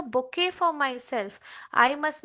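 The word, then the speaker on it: bouquet: मेरे साथ प्रोनाउंस कीजिए बच्चों, बुके। क्या बोलेंगे आप?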